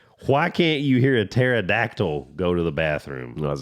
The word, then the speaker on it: pterodactyl: can't you hear a pterodactyl go to the bathroom what's that because the p is silent well English all